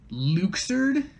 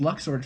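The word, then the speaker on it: Luxord: they would later say it's pronounced luxured which i hate i'm actually so mad about it because this this character existed for uh 13 years no can't be that long yes jesus 13 years before they told us how to pronounce his name but why though i don't know but i just assumed it was luck sorted for the longest time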